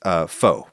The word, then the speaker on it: pho: You think of a boiling hot bowl of pho, or "fuh," I guess it's pronounced. Apparently, some people in Vietnam actually pronounce it "foh," in addition to "fuh," but anyway.